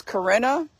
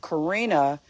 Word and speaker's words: Corinna: So my name is interesting because it has 2 pronunciations. It's Corinna, which is the German European pronunciation, and Karina, which is the American pronunciation.